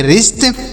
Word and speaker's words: WRIST: WRIST तो W का यहाँ पर उच्चारण नहीं होगा, R से पढ़ेंगे र, आई से छोटी ई की मात्रा, यस से आधा श, टी से ट पढ़ेंगे, तो इसे पढ़ेंगे रिस्ट।